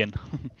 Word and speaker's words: Aaen: spell your last name it's called anen so like a d andreasen that's cool it's some like German might spell it differently and also English speaking might spell it English speaking people might spell it differently so it's good to know that normally call me aan yeah I want to